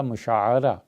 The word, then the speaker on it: مشاعرہ: جس طرح ماہانہ تنخواہ ملتی ہے تو اسے کہتے ہیں مشاہرہ، اسی طرح مشاعرہ عین پہ زبر آتی ہے.